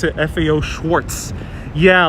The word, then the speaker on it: Schwarz: I always pronounce it FAO Schwarz." Yeah, a lot of people do pronounce it Schwarz, but there is no T in there.